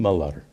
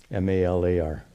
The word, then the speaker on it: Malar: Is that the right pronunciation? Malar, in Tamil. M-A-L-A-R. Malar. I don't think, not long, Malar or anything.